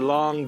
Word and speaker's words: Lang: And then we have our long Jujube. Long. I know it's L-A-N-G, but a whole other story on the pronunciation.